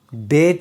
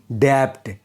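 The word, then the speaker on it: debt: अगर बी टी के पहले आए तो बी साइलेंट रहता है। एग्जांपल इसे हम डेट बोलते हैं ना कि डेप्ट क्योंकि यहां पर टी के पहले बी आया है। इसीलिए बी साइलेंट रहेगा।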